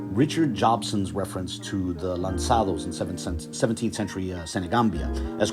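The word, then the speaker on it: lançados: That it's like the C in facade, right? So it's lanzados, not lancados, right?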